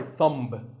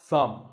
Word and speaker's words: thumb: the way what's this this is my thumb it's not my thumb it's pronounced thumb and what about this